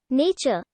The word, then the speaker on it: nature: divine party of Natanre, it is uncertain whether nature is accented on the first syllable, as it certainly was by Shakespeare's time, or on the second syllable, as Chaucer pronounced it.